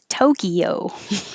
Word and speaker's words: Tokyo: the very american pronunciation tokyo and i'm really exaggerating my o so that you'll hear the o and it's not just